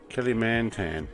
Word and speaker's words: Kalimantan: Is that how I pronounce it? Kalimantan, yeah.